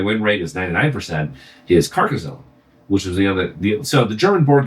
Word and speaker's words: Carcassonne: Carcassonne or Tarkazone? Carcassonne. It's a city in France.